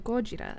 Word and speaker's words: Gojira: But in Godzilla, the main like research guy always calls him Gojira after the Japanese pronunciation.